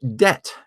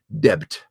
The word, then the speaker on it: debt: conservatism was the culprit the word debt has never been pronounced with a B sound in it we've never said depth ever in English the word used to be spelled Det Det te just like it sounds but the word debt